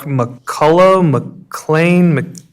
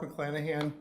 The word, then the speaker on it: McClanahan: up next we have mccullough mcclain so my name is mcclanahan thank you this is